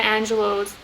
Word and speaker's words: Angelou: an excerpt of maya angelou's like speech angelou angelou sorry it's pronounced maya angelou's um one of her